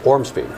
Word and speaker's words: Ormsby: is not difficult it's six letters and you pronounce everyone in order say it first orm speed but people hear all sorts of versions of